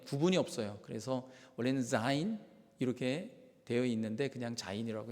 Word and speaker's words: 자인: 원래 한국 언어는 그 즈 발음, 지 발음과 G에 있는 그냥 G 발음에 구분이 없어요. 그래서 원래는 자인 이렇게 되어 있는데 그냥 자인이라고 했습니다.